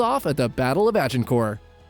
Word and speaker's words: Agincourt: at the Battle of Agincourt. It's actually pronounced Battle of Agincourt.